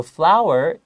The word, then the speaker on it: flour: water and flour so flour f-l-o-u-r it's pronounced like hua f-l-o-w-e-r but they're different things so this flower in